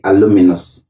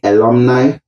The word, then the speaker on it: alumni: of the wrong pronunciation you don't say aluminum you do not say alumini you say alumni and you say alumnus